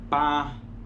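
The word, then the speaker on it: 八: pronuncia como sí sí el 8 se pronuncia como para el 9 se pronuncia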